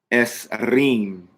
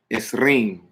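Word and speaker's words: עשרים: And it is pronounced esrim, esrim, 20, esrim.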